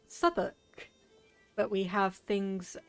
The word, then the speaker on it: Southwark: So I know exactly how this one is pronounced, because I know the modern vernacular. That's Southwark.